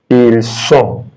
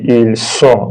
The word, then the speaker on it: ils sont: Then ils sont, ils sont, ils sont. Don't pronounce this T. This S, they are silent when there is the last letter in French.